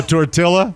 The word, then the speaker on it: tortilla: to this number 12 pronouncing all the L's in the word tortilla so tortilla yeah make yourself a